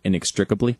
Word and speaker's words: inextricably: Yes, because he uses a P in it. Yeah, there's something Inextricably. else. Yeah, it's like it's almost out of order. It seems like maybe the syllables are out of order.